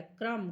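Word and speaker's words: crumb: नम mean सुन होना सी आर यू एम बी इसमें से भी बी निकल गया क्रम क्रम मींस टुकड़े टी एच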